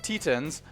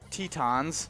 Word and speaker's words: Tetons: and then and the grand uh tentins tetons tetins tetons sorry in 1912 yeah make me pronounce it right i would i i appreciate